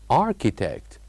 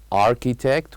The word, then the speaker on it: architect: here in this word architect we say H or we write the letter H but we don't pronounce it architect so not only